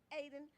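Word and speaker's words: Ayden: The Almondsville Original Free Will Baptist Church, 3745 Almondsville Road, Aden. A-Y-D-E-N, Aden.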